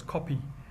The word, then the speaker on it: Kope: The name Harare derives from the Shona chieftain Nirwana, who with his people occupied the area known as the Kope, pronounced as Kopi, near where the commercial area developed.